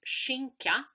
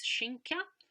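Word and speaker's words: skinka: the word for play so ham in swedish is shinka um it's one way of pronounce pronouncing uh this word in some dialect it is pronounced uh slightly differently but it can be pronounced as shinkya and we find the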